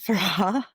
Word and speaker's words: Farrar: He pronounces it Farrar. I pronounce it Farrar. Either or.